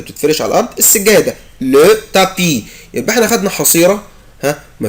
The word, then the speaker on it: tapis: لو تابي. جو نو برونونس با لا لتر اس، مش بنطق حرف الاس. يعني حد يقول لك تابيس، غلط، اسمها تابي.